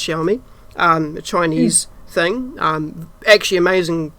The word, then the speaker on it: Xiaomi: a xiaomi that x-a-i-m-o-i phones um which is pronounced xiaomi a chinese thing actually amazing value for money